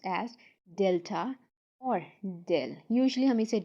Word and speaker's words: delta: Del, this is actually this triangle, little triangle is called, pronounced as delta or del.